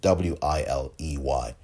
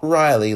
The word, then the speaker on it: Wiley: And she's at Maya Wiley, I think is her Twitter handle, Wiley. Not Riley, like Bill Ritter mispronounced it last week at that debate that I played you a portion of, but Maya Wiley, Wiley.